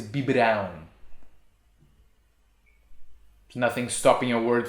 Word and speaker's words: biberão: brown be babe yes we need that little sign on b brown without it it would be bibrao and that's not a word the word is bi brown there's nothing stopping your